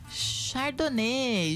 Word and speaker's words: Chardonnay: aqui, um vinho branco da uva chardonê, gente. Aquela que se escreve chardonai, né?